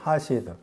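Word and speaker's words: חָסִיד: 그 형용사 읽으면은 하시드라고 읽어. 하시드.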